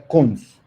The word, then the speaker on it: cons: Y el otro se construye con el constructor dos puntos, que se pronuncia cons.